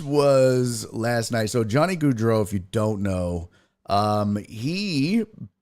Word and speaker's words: Gaudreau: How do you pronounce it, Mark? Gaudreau.